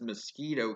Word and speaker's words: Miskitu: Kingdom mingled by their British allies to be pronounced as mosquito kingdom the mosquito kingdom sat on the Nicaraguan